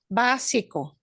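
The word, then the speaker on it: básico: interior see okay interior basico this accent on the a doesn't mean we pronounce that ah differently we just punch that syllable harder than the EO syllables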